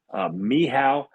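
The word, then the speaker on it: Michał: His name is Michal, Mehow. I'm going to pronounce his last name right, Pospieszalski.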